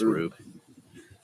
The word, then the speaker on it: Rube: I think it's Rube. It's like Mousetrap when you were a kid. Research department. Confident. Oh, sorry. yeah, Rube. Rhymes with noob.